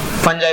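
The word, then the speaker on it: fungi: Monera के बाद protista, protista के बाद फंजाई बोलना आज के बाद से, करेक्ट प्रोनाउंसिएशन वो है।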